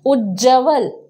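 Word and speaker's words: उज्ज्वल: दिया ध्यान रखिएगा कि यहां पर पूरा उज्जवल वर्तनी शुद्ध उच्चारण शुद्ध होता है कि उज्जवल उज्जवल होता है इसलिए हम लिखते हैं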